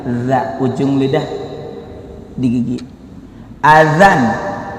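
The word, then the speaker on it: أذان: Azan bukan adan, dak gerak adan. Ya, saya nggak mendiskreditkan dari suku dan orang mana. Ada saja yang bilang gerak adan, padahal azan, izin, azan.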